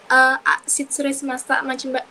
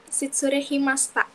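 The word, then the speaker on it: 失礼しました: Tadi saya dengar Desa ada salah pengucapan kata di Shitsure Shimashita, Machigai Masta. Desa bilang Shitsure Himasta.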